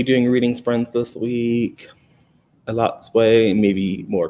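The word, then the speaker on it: Elatsoe: It's pronounced Elotsoe. We are reading You Should See Me in a Crown by Leah Johnson for the Choices Book Club. You'll be doing reading sprints this week. Elotsoe, maybe more correct.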